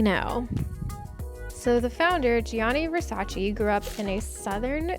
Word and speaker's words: Versace: a Versace or the correct pronunciation Versace now this box has